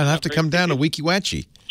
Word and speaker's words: Weeki Wachee: is that right am I saying it right Weeki Wachee you certainly are yes that's because Kim spelled it phonetically for me Gary it's an old Indian